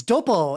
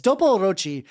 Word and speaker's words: Dopochi: Why do you keep adding an I? It's Dopo. It's Dopochi.